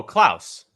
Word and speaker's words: Klaus: uh how do you say it klaus oh klaus yeah uh the netflix uh animated film netflix